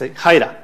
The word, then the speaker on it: Hiera: it wrong, is that it's Hiera. It's Hiera, not Hiera, it's not Hiera, it's Hiera.